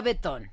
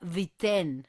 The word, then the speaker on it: Beaton: Yo le decía a Betón, así no se pronuncia. Luego dije que bisón así tampoco se pronuncia. Según Gemini se pronuncia viten. Ah, Viten. Ceciliten. Cecil Vitten. Pero se escribe beatón.